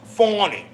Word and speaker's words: Fani: Prosecutor engaged by Fanny, pronounced Fawny, Willis, to...